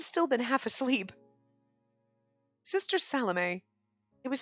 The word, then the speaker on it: Salome: It's Salome. That's how you pronounce that. I had to look it up because I was like, Salome? Like shalom? No, it's Salome. I'm pretty sure. That's what we're going with because that's the pronunciation that I found.